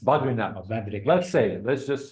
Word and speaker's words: Badrinath: We're going to, let's say, Badrinath. Am I pronouncing the right word? Badrinath. Badrinath. Oh, Badrinath.